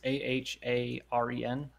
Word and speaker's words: Aharen: So first off, we have Aren is Indecipherable, or Aren. Yeah, her name's kind of hard to pronounce. It's one that I've not seen before. It's A-H-A-R-E-N. Aharen-san is Indecipherable.